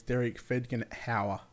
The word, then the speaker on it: Derek Fedgen-Hauer: All right, I actually got the correct pronunciation of that one, of the 843. It's Derek Fedgen-Hauer.